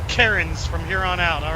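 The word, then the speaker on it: Cairns: Australia right now and he's calling it Karens well that's what I've been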